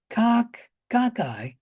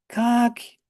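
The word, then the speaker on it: cocci: And I use the term cockeye, but you could call it cocky as well as cocky or cockai. And there might even be a fifth way. I don't remember. Any pronunciation is correct.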